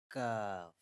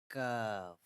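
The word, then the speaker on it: ك: This is called Kaaf, Kaaf, Kaaf. This is a normal letter or light letter, not a bold or heavy letter.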